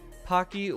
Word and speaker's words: Pocky: tiny URL alternative yes it's Pocky where the O is pronounced like in clock okay thank you Alicia